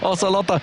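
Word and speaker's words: Ocelote: correct we're technically correct oselot a oselot oselot as his proper pronunciation there with his scarf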